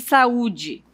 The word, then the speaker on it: saúde: E aí nós temos também agora a palavra baú, por exemplo, e saúde. Ó, baú, acento tônico no U, e saúde, o acento tônico no U também.